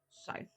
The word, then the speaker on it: scythe: How to pronounce scythe? This word is pronounced scythe.